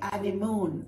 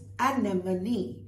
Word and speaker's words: anemone: Anemone, most people say anemone, it's not. It's anemone, and it's a plant of the buttercup family.